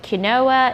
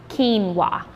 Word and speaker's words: quinoa: might have pronounced it kinoa it starts with a q but we actually pronounce it with a K quinoa uh and it's not